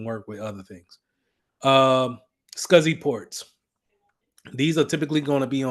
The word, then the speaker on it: SCSI: This is typically what they're going to use as a connector, SCSI. So small computer system interface, but it's pronounced that.